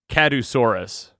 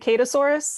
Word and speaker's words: kadusaurus: correctly i was saying kadusaurus that works um we pronounce it catasaurus because like katie obviously yeah but besides kadusaurus